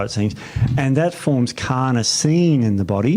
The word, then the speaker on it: carnosine: what does it do carnosine Steve carnosine not cartine not cartin carnosine so beater alanine you